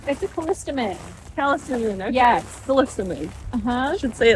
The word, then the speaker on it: Callistemon: It's a callistemon.